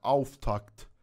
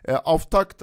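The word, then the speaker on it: Auftakt: دارم بعد تلفظ می‌کنم آف تاکت آف تاکت تلفظ درستش اینه حالا دیگه ما یه خورده ایرانی زش کردی البته دیدم بعضیا افاک و ایناهم میگن آف تکت حالا تلفظ آلمانی درست شه دیگه اگه خواستید خب عارضم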